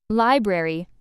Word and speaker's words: library: Library, stress on first syllable, don't miss the r in spelling.